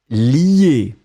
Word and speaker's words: lier: Donc on le prononce li, mais on va l'écrire L-I-E.